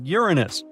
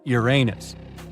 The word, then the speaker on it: Uranus: Actually, astronomers say we should be pronouncing it like Uranus, not Uranus. I can't say a different stress changes much, though.